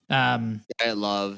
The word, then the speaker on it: Dyatlov: Dyatlov is how you say it.